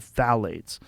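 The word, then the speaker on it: phthalates: becoming more feminized because of these things called phalates and it's spelled with a p PT h a l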